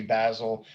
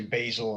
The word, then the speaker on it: Basil: so sometimes i'll say basil sometimes i'll say basil and that way i make everybody happy and online argument with